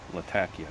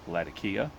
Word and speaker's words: Latakia: met some Syrian women who are actually from the city of Latakia that's how they pronounce it but we've all not just me lots of people call it lakia and I told her